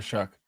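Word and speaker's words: Shough: Shuck Shuck uh versus the Atlanta Falcons.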